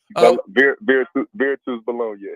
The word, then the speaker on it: Virtus Bologna: Will it be weird going to play against I'm going to butcher the name, Kyle, it looks like Bologna, but it's not how you pronounce it. Virtus Bologna.